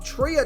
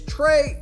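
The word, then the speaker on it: Trea: I like Trey Turner I used to call him Tria Turner uh that was embarrassing but you guys know that I can't pronounce names very well but that was a bad one Tria it is Trey Turner and he's got a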